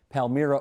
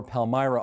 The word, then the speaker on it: Palmyra: First, let's establish off the top as we take a look and situate Palmyra or Palmyra on the map. I've heard it pronounced both ways.